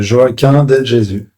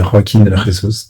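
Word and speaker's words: Joaquín de Jesús: Al je m'appelle Joaquin de Jésus en français et en espagnol ça se dit rakin ressourus donc comme vous préférez le prononcer.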